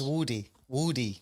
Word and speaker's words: Woody: could you tell us how the name is pronounced it's Woody Woody yeah yes wood D where' that come from